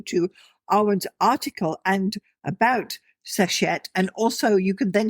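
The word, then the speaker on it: Seshat: Uh Sashett. Could you spell that for us?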